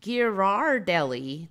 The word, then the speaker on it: Ghirardelli: it was now but apparently it's gear our deli Chocolate Company Ghiradelli Ghirardelli